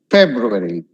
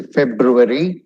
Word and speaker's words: February: February. Don't say February, but not a big deal. But it's exactly pronounced February. February.